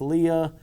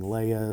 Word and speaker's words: Leia: correct pronunciation I mean even George Lucas has referred to her as Leah uh obviously Tarkin pronounced her name as Leah and you have others saying Leia so there's a little bit of wiggle room on that so in